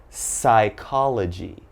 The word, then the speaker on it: psychology: here but okay so as you notice PS is very very common but don't say the P alright so just one